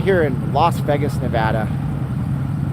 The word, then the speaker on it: Nevada: here in Las Vegas Nevada Nevada not Nevada okay it's not Nevada we made a license plate dang it say it right without people say that